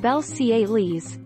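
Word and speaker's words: Belcalis: how i pronounce my name my name is pronounced belle ciele's and my last name almanzar cardi b explained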